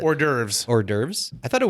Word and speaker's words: hors d'oeuvres: whatever the all right it's not horse dovers how do you actually pronounce it hors d'oeuvres hors d'oeuvres I thought